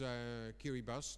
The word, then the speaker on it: Kiribati: It's Kiribati, that you pronounce it, and it's located between Fiji and Hawaii, right in the middle.